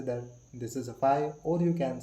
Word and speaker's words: phi: It is denoted by this phi. It is denoted by phi. How to pronounce it?